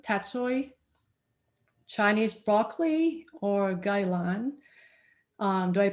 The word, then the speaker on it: gailan: And typically I would grow the vegetables I show here: bok choy, tat choy, Chinese broccoli, or gailan. Do I pronounce that right?